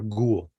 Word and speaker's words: ghoul: And kind of the same here with the H, it's a silent H in ghost, ghastly, ghee, or ghoul, right?